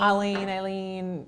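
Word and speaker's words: Aleene's: You can say either one. It's kind of like how people pronounce Courtney's mom's name, like Eileen. Alen. Yeah. Yeah. Totally different.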